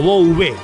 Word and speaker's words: Bouvé: No Bublé como el cantante. Bubé. O Bouvé, mejor dicho, pronunciado sería Bouvé.